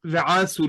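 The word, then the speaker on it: וְעָשׂוּ: You're right that we can see that the accent is on the penultimate syllable in the first word, and hence Ve-asu li mikdash Ve-shakhanti betocham.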